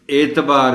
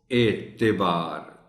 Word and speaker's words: اعتبار: ہیں، غلط ہے بالکل، لیکن اعتبار بھی غلط ہے، یہ پڑھا جائے گا اس کو اعتبار، تے کے نیچے زیر کو نمایاں کرنا ہے اور اس کا خاص خیال رکھنا ہے۔ منفرد، منفرد پڑھ جاتے